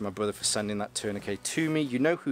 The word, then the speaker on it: tourniquet: There's also a tourniquet, or tourniquet, which the vast majority of the world call them, but some people like to pronounce the T on the end.